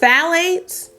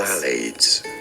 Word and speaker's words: phthalates: Phthalates. Phthalates. Yes, it's an F sound, then a the sound.